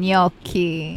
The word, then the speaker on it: gnocchi: for everyone which one no the other one gnocchi that's how you say it everyone's like gnocchi